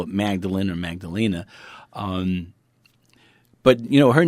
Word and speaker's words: Magdalena: his wife Mary Magdalena now I say Magdalena now you say Magdalene well because her name in certain languages and certain cultures you would spell it with an A on the end like Spanish people would say Magdalena and then people from other places would call it Magdalene it really doesn't matter